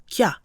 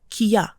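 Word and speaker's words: きゃ: Together, this produces the sound kya. If the 2 symbols were both normal-sized, we would pronounce them separately, kiya. But this represents kya.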